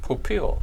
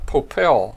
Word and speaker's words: Popil: Popil. Popil, just like the pocket Popil. fisherman guy. You know, I called this guy Popel for many years, Yeah.